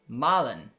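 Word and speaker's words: Malen: uh i just checked it out josh and maulin is actually pronounced malin like mama ma marlin did i get it i don't know i've always heard the english pronunciation and i've i've heard mullen so i don't know st juice would be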